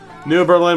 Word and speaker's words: New Berlin: New Berlin, Wisconsin. Lompoc, California. New Berlin. Almost 40,000 people. Cool. Pronunciation. Rare residents put an accent on the first symbol of Berlin. So, New Berlin.